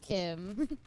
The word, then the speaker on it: CHIM: You either cease to exist or you was sown as Chim pronounced Kim and become a god yourself.